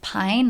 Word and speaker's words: Malibu Pain: So this publisher is Malibu Pain. Now, if you read out the Japanese pronunciation of their name, it's pine, like pa-i-n, like pine. But in English, they actually spell it out as pain.